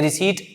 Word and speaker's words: receipt: जो टॉपिक रहेगा और याद रखना स्टूडेंट यहां पर इसको प्रोनाउंस क्या किया जाता है रिसीव कई स्टूडेंट गलत प्रोनाउंस करते हैं रिसिप्ट बोल देते हैं तो आप ऐसी गलती मत करना इसको बोला जाता है